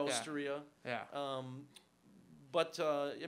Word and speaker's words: Osteria: not right it's it's it's it's Osteria it's like traia Osteria yeah um but uh